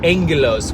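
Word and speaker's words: ἄγγελος: So that the way that word agelos sounds is angelos, which is where we get the word angel.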